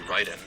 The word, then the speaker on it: Raiden: because that's the way it would be pronounced. You know one that's a big problem it's actually Ryden.